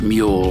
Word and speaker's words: mul: name of this race it is pronounced mule like the crossbreed between a horse and a donkey in both cases the